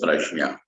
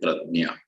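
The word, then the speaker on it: प्रज्ञा: So the first is called as prajna. Marathi people will call it pradnya. In Hindi bhasha, they will say pragya. The correct pronunciation is not nya, gya, j, j plus the anunasik.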